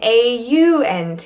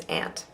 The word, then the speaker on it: aunt: that is just glass aunt and I mean a UNT unless you're on the East Coast standard the standard is aunt if you say aunt will know what you mean but will think oh